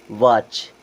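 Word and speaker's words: watch: क्या पढ़ेंगे सॉफ एन वाच वाच means घड़ी भी होता है और वाच मींस देखना भी होता है यहां पे टी साइलेंट उसी प्रकार मैच की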